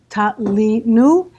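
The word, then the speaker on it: תלינו: And so it's pronounced ta li nu, and it's written ta lo nu, okay, with a vav.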